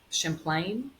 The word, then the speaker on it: Champlain: Do you pronounce it? Champlain.